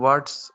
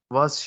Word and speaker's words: what's: इसको ऐसे पढ़ते हैं व्हाट्स योर नेम। लेकिन जो अंग्रेज है ना वो टी को नहीं बोलते, वो टी को जो है ना वो साइलेंट कर लेते हैं और टी की आवाज नहीं निकालते और ऐसे बोलते हैं व्हाट्स योर नेम।